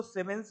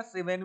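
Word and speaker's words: siemens: ठीक है, तो इसको सीमेंस भी बोलते हैं, सीमेन भी बोलते हैं।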